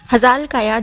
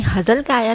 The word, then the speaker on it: Hazal Kaya: हजाल काया, जिन्हें हजल काया नाम से भी सब पुकारते हैं, पर उनके नाम की रियल प्रोनाउंसिएशन हजाल काया है।